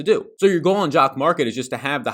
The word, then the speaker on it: Jock MKT: the apple store today it is jock market it is spelled jock and then mkt link down below you